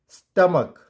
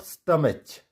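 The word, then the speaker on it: stomach: वैसे ही स्टमक, नॉट स्टमच, इट्स स्टमक, स्टमक।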